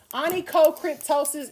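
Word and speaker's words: onychocryptosis: Anie co-cryptosis is literally an ingrown toenail. Okay? And in that word, you see crypt and toe. Crypto. I got a toe. Cryptosis. Anico. Cryptosis. Okay?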